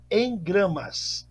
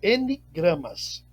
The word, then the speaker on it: engramas: E em gramas, ok? Ou N gramas. Cada um pronuncia de uma maneira, como um N mudo, e outros como um N completo. Isso não importa a pronúncia, importa o entendimento.